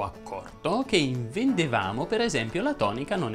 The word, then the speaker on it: vendeva: molto molto semplice, perché tutte le E toniche presenti all'interno delle coniugazioni vanno pronunciate chiuse. Se prendiamo per esempio il verbo vendere, si dice io vendevo, tu vendevi, egli vendeva, noi vendevamo, voi vendevate.